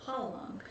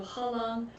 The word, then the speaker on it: Hwarang: It's pronouncing the R, but actually I learned that the R is not pronounced, it's pronounced with like a soft L, so it's actually Hwarang.